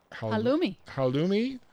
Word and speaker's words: Halloumi: I saw on page 27, how do you pronounce that word, Marlene? Halloumi. Halloumi, basil, and tomato salad.